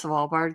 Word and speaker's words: Svalbard: Do I pronounce Svalbard correct?